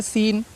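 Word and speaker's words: scene: फिर सीन, SC आया है, सी साइलेंट है, सी का प्रोनाउन नहीं करना है, ठीक है।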